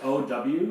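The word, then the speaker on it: áo dài: Oh yeah, it's spelled AODAY, but it's pronounced. By the way, my family's gonna love this, by the way. That you guys are teaching me how to say things. Yeah, it's pronounced OWYAI.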